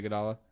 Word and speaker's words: Iguodala: you make of the Andre how do you pronounce the Iguodala yeah Andre Iguodala okay I was really worried I was gonna